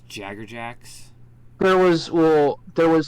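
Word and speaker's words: Jaegerjaquez: Jacker jacks which is why I don't understand why it was never pronounced Jaeger jacks because it's literally spelled Jaeger I don't it's so weird that it was jaggerjacks there was well there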